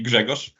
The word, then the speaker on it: Grzegorz: So Greg is the correct English speaker's friendly pronunciation. The standard pronunciation of my name would be Grzegorz, but that might be a bit difficult to say for non-Slavic language speakers.